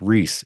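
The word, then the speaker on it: Rhys: on Twitter reesor Largent that's r h y s Rees I had to think about that did I spell that right yeah RH Ys Reese interesting spelling Reese Largent go find him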